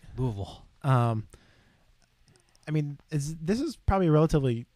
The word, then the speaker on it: Louisville: Yeah, that's how you say it. Get it right. Louisville.